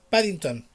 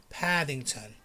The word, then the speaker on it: Paddington: paddington remember be careful it's not paddington like in spanish no it's paddington paddington the t the t makes a difference british guy